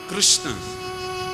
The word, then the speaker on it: कृष्ण: है और इनका नाम कृष्ण बोलने वाले की जीव ही चक्कर खा जाए शुद्ध उच्चारण लोग कर ही नहीं पाते कहीं तो लोग किशन किशन बोलते कृष्ण नहीं बोल पाते तो किशन बोलते भारत का प्रसिद्ध है